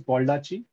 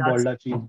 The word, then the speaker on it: Baldacci: I don't know how to pronounce the name. I think it's Baldacci. So it's David Baldacci's book.